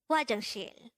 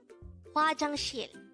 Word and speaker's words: 화장실: 화장실. 화장실. This is pronounced as a three-syllable word. The first syllable is 화, second syllable is 장, and the third syllable is 실.